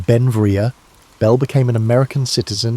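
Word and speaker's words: Beinn Bhreagh: pronounced Benvia.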